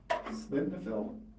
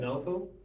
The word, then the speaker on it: Sildenafil: No, ball refill and, slidnafil? Is that pronounced? right? Sildenafil?